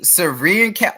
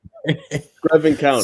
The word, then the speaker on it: Screven County: Serene County. What is how to say this? Screven County. Say that again? Screven County, bro.